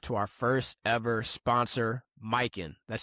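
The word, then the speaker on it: Mykyn: We want to show some love to our first ever sponsor, Mikin. That's spelled M Y K Y N.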